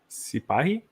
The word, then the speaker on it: Sipahi: Sipahi. This one? Yeah, how is that pronounced?